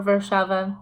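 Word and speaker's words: Warszawa: somebody just called me from Warsaw or verse Sheva depending on how you want to pronounce it okay so part two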